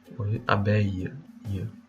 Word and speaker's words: abeille: vous avez un abeille c'est comme si vous avez une extension de la dernière voyelle vous voyez là donc